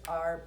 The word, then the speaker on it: e: nine our new words are prepositions they are very small little words one of them in fact is just one letter law and that's the letter e it's pronounced a let me read through